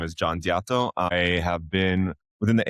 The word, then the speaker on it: Diatto: I picked up the, when we started here, I asked you how to pronounce it and I said Diatto.